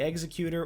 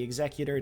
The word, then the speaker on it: Executor: a super star destroyer the executor or the executor depending on how you want to pronounce it but it was just